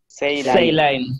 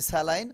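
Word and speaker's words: saline: লাইন লাইন তাহলে পুরোটা মিলে কি হলো সম্পূর্ণ মিলে Say line. Say line. সেই লাইন ওকে এটা হলো মূলত line, আমরা বলি স্যালাইন উচ্চারণটা হবে সেই লাইন Say line.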